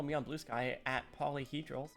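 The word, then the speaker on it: Paulyhedral: You can follow me on Blue Sky at Polyhedral, spelled like P-A-U-L-Y, Hedral.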